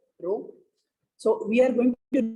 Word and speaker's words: rho: This is pronounced as rho, rho.